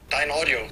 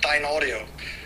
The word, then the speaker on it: Dynaudio: Dyna Audio. We pronounce it Dyna Audio, just in one, not in between. So Dyna Audio is the way we say it.